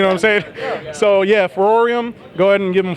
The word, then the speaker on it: FVROREM: to practice you know I'm safe so yeah for or iam go ahead and give them follow on or